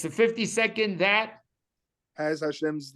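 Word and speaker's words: השם: Hashem.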